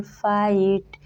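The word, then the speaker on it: fight: लाइट माइट राइट टाइट सारे words में देख सकते हैं आई के बाद जी एच टी आया है और टी के पहले आया जी एच का उच्चारण कहीं भी नहीं हुआ है यानी जब आई के बाद जी एच टी आए तो आई का उच्चारण आई से कहते हैं और जी एच का उच्चारण नहीं होता है रूल नंबर एट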